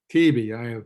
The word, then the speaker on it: Taibi: Tabi. Taibi, it's T-A-I-B-I, right? Yeah, it's an Arabic word and an Italian pronunciation, so it's impossible.